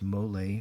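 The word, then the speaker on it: Mollé: gas can use moly moly it's pronounced male for shaving without brush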